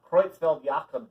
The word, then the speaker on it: Creutzfeldt-Jakob: human versions of it called creutzfeldt-jakob disease and yes that's how you say it variant creutzfeldt-jakob disease so